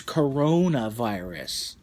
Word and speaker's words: coronavirus: dude but I'm a proud I'm afraid you pronounced it wrong it's not corn ever it's virus its coronavirus but you were right on your arm ah